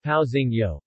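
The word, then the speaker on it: pãozinho: of these nuts and paozi no pronounced pausing yo Portuguese style bread rolls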